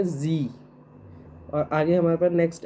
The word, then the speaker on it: Sie: Like हमारे पास जी, हमारे पास SIE है, तो उसे हम प्रोनाउंस करेंगे जी।